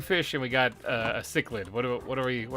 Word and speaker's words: cichlid: for these two fish first come first cichlid cichlid now that's how you say it and take